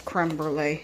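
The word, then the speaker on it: crème brûlée: Well, that's creme brulee, it's pronounced.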